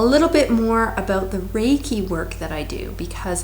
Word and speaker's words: Reiki: It's spelled R-E-I-K-I, pronounced Reiki.